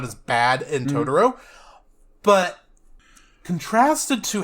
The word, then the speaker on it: Totoro: Satsuki and May discover that the nearby forest is inhabited by magical creatures called Totoros, pronounced Totoro.